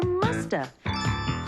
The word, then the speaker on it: must have: And sometimes we don't pronounce the V. And so you hear musta.